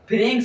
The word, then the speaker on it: pharynx: अब देखो फेरिंग्स और लेरिंग्स होता है।